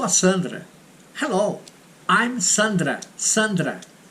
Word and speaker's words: Sandra: Sandra, not Sandra. Sandra is in English. Olá. Hello, I'm Sandra. Sandra. That's the pronunciation, okay?